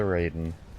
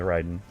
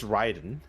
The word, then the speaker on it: Raiden: pronounce that word well my understanding is that the Japanese pronunciation is specific but the way that it's translated to uh written in English leads to the other pronunciation right yeah like if you look at a Japanese dictionary or like a Japanese sour and putting the kanji characters in it uh it is it is Ryden right but because of Mortal